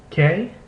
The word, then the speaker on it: que: In the configuration ku ue or he ue, the U is not pronounced, and only the second vowel is pronounced.